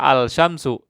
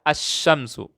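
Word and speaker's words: الشمس: as-syams tidak dibaca levelnya Saya tidak baca alsysyamsu Tapi saya baca as Syamsu ada tasydidnya ya Nah itu dinamakan dengan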